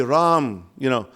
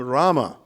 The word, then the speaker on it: Rama: So, for example, you may say Ram, Ram Ram, Hare Hare. Well, it's really Ram Rama, Rama Rama. Okay, in order to complete the 8-syllable meter there of the Anushtup or Shloka meter.